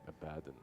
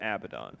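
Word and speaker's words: Abaddon: he's like Abad yeah Abad in Dota one days we called them abidon yeah that's why I was mistaken I I used to spell it Abba but it's there's only one B it's AB b a d d o n there's two D's not two B's you know what it's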